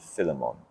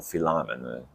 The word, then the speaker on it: Philemon: It'll be 1 Thessalonians, Galatians, Romans, 1 and 2 Corinthians, that's 5, Philippians, and Philemon, or Philemon, depending on how you pronounce it.